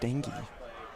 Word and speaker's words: Stange: Actually, I believe it's pronounced Stangy.